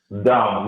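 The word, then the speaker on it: Dão: Down, yes. I would say it's down. It's pronounced like with the nasal sound at the finish. It's difficult to pronounce.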